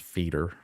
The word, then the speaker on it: feeder: Yeah, it is pronounced feeder. Yes, feeder. Yep. Yeah, not like the tennis player Roger Federer.